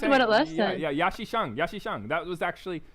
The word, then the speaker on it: Xiang: Yeah, Xiang. That was actually, I'm mispronouncing it. How do you say it properly, guys? Xiang. Wow, nice. Xiang. Like that? Is that right?